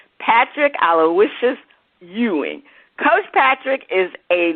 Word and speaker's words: Aloysius: Aloysius.